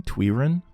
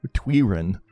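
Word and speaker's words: Twyrine: distill twiin fast learner I've been saying it wrong twiin oops another another danowski moment tween I like twine better but tween's okay too we'll say that from now on sit take a load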